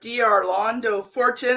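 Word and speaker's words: D'Arlando Fortune: And today I have Arlando Fortune, and I don't even know if I came close to saying that correctly. You said it right.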